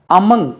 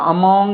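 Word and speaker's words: among: slowly along the route அமங் இதுக்கு நம்ம ஜெனரலா அமாங் என்று உச்சரிப்போம் ஏ எம் ஓ என் ஜி அமங் என்று உச்சரிக்கணும் பாருங்க அமங் அமங் அமங்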